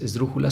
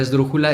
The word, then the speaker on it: esdrújula: Son 4 sílabas. Ahora, ¿cuál de esas es la fuerte? Esdrújula. Si se dan cuenta, es dru, que sería última, penúltima, antepenúltima. Eso automáticamente la convierte en una palabra esdrújula y la acentúas.